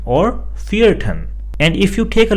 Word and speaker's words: vierten: Similarly, if we have other letters such as second or fourth, then they are also pronounced as zweiten or vierten.